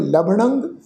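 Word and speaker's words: ਲਭਣੰ: लभणंग लला भब्बा नाणे दे उत्ते टिप्पी की मात्रा उच्चारण करांगे लभणंग साध संगेण नानक हर पूरब लिखना है।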